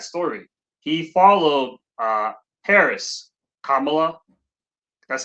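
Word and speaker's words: Kamala: Kamla, that's how you say her name, right? Kamla.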